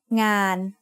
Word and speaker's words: งาน: Ngöงูสระอา นอหนู makes ngàn. Ngàn means work. The sound of นอหนู makes it a live syllable, so it is mid-tone.